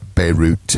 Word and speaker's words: Bayreuth: I was booked to do a gig in Bayreuth, okay? Bayreuth, B-A-Y-R-E-U-T-H. Normally pronounced like Beirut in English, but it's Bayreuth mm-hmm. in German.